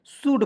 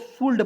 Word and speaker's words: should: है, नहीं शूड पढ़ेंगे, और बहुत लोग शूल्ड पढ़ लेता है, नहीं। SH से होता है दोस्तों तलाबेशा, यू का प्रयोग करेंगे छोटा ऊ की मात्रा, ओ को साइलेंट, एल को साइलेंट, डी से ड, तो क्या पढ़ेंगे शुड।